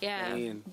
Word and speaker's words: Ghanaian: And the third is, I don't know how to pronounce it, like Ghana, whatever. But guys from Ghana, whatever. Yeah. Yeah. Ghanaian.